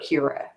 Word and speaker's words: curare: and she calls it cura because it's c-u-r-a-r-e and she calls it cura and a trap that pops up next book i think so keep that pronunciation in mind addy okay three syllables um okay so she's